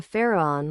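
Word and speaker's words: FARAON: your body well pronounce the Mantra Faron like this f a a r r r a on many times but with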